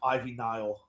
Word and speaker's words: Ivy Nile: Ivy Nile.